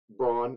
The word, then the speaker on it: Braun: a game, but Christian Braun, I refuse to pronounce it Brown. it. Brown. That's not how that name's spelled.